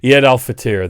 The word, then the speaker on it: Eid al-Fitr: Eid al-Fitr, thank you, Paul, is the name of the holiday, is how you say the holiday.